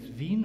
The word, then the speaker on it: Vine: something about yourself Thanks hello what's the right pronunciation of your surname is VIN or vine vine okay vine from UK North Fork also